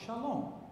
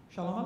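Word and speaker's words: שלום: Hebrew shom correct last it's the last syllable you put emphasis on the long if you if you didn't read it correctly what would you say shalom right you w say but it's wrong you can't say shalom it's shalom okay now you have the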